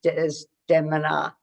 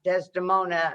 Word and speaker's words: Desdemona: the diminutive ulysses s grant was cast as des demina that is the correct pronunciation not desdemona as we had been raised it's desdemona in